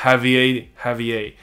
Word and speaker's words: Javier: Javier, 他 claim, 他声称他是来自2027年。So a lot of people...